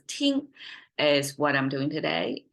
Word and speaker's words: 听: Okay, so listen, 听, pronounced as 听.